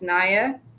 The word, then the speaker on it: Naya: it's uh empress naya i pronounce my name is naya so i think between one of the the letters it's a short short sound instead of a long sound um but just to